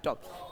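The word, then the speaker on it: talk: टॉक। टी ए एल के L silent है यहां पे। क्या साइलेंट है? एल। इसलिए इसे हम बोलेंगे टॉक।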